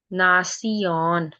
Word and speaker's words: Nation: देता है वो हमें बट in German T आई ओ एन इज़ सियन Sayan this is the sound of सीयन for example in फोरमासयन नासियन क्योंकि एन और ए की साउंड होती है आ सो नासियन नेशन अक्सन एक्शन next is